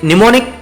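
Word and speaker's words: mnemonic: हैं यहां पे जैसे निमोनिक डिवाइस होती है अब निमोनिक अच्छा हां निमोनिक ये वर्ड निमोनिक पढ़ा जाता है एम एन ई एम ओ एन आई सी निमोनिक यहां पे एम साइलेंट है ठीक है तो निमोनिक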